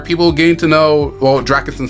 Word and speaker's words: Dracasin: Hey, all you gotta know is pronounced like the first part is pronounced Dracasin, and the last name is pronounced the last name is pronounced.